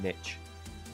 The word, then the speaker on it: niche: I hate the way Americans say niche. It's niche, okay? Niche.